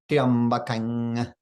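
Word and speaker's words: त्र्यम्बकम्: When it comes before, when the ma comes before a ya, it's pronounced like ang. So we say triambakang yajamahe, triambakang Triambakam yajamahe, like so.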